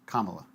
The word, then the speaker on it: Kamala: a formal apology because it's the pronunciation is Kamala how hard is this